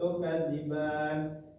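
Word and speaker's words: تُكَذِّبَانِ: Selanjutnya tukadziban. Di sini ada alif yang sebelumnya fathah tapi berada di akhir kalimat maka disebutnya adalah mad al fukun. Cara bacanya sama seperti mad thai. Dipanjangkan dua rakaat tukadziban.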